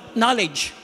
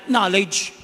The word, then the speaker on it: knowledge: English mahig sila sa silent letter for example knowledge pagulat mo may k k o w l d g pero walang loloko nabasan ng lahat ng maganan knowledge For instance one so